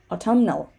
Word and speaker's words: autumnal: So autumn, we're not going to say autumn, but autumnal.